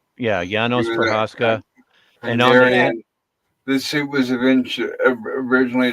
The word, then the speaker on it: Janos Prohaska: If I may, his name is pronounced Janos Prohaska. Janos Prohaska.